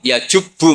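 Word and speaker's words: يَجُبُّ: Terus Nabi ngendikan, "Alislamu yajubbu maqoblah." Itu bacanya bukan yajibu tapi apa?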